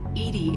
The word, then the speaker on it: EDI: are you named Edie Edie is the phonetic pronunciation of EDI that is an acronym for enhanced defense intelligence how are you getting along with Joker mr.